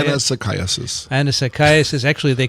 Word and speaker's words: Anisakis: How do you say Anisakis.